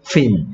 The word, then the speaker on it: fin: p는 p니까 f는 f니까 윗니가 아래 입술을 스치는 거야. 오케이. 그래서 얘는 fin. fin. fin. fin. fin. fin. 얘는 pin. pin. pin.